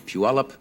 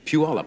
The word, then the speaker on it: Puyallup: If you are looking at these lovely flowers, I think these are sent, as they are every year, by the Puyallup Daffodil Festival in Puyallup, Washington.